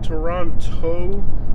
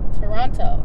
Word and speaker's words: Toronto: It's pronounced Toronto. Mm-hmm. Okay, you have to emphasize the toe. Toronto.